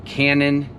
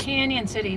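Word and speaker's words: Cañon City: the Tunnel Drive trail in Canon or Canyon, sorry. Yeah, it's Canyon City with a rolling N. Yeah, spelled with a cannon, though.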